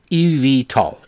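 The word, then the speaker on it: eVTOL: call Ev tolls e and it's spelled e-v-t-o-l means electric vertical takeoff landing airplane EV tall e v e v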